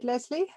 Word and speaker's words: Lesley: and today I'm with lesie nay do I pronounce it right lesie yes thank you lesie helps people and pets